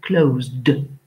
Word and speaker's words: closed: Quand le son de la finale d'une base verbale est z, alors le D se prononce de, ce qui nous fait closed.